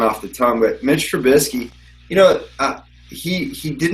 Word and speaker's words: Trubisky: Is that how we pronounce it? It's Trubisky.